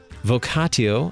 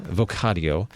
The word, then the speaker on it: vocatio: you today we do vocatio vocatio um depending on if you pronounce it as a hard tea or a soft tea uh we're going to